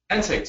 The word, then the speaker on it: NSAIDs: How do you pronounce that? NSAIDs, yeah. NSAIDs.